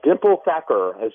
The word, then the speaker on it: Thakkar: And Dimple Thakkar, did I get that name right?